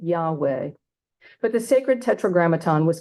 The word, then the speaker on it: Yahweh: included no vowels so in order to pronounce the tetragrammaton vowels are added and we get Yahweh but the sacred tetragramaton